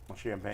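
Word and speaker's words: Champagnie: we say his name it's not champagne it's champagne champag champag OB toppen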